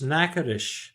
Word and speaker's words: Natchitoches: It's Natchitoches. It's like Nakatosh.